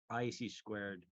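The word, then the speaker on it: (ISC)²: all these different um IC squared uh which is just how you pronounce the organization name um the ISD squared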